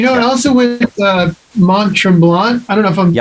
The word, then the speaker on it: Mont Tremblant: You know I also went uh Mont Tremblant? I don't know if I'm pronouncing that Yeah, that's right. Tremblant, yep.